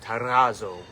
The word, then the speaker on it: Terrazzo: It is a R, double R, so it's Terrazzo.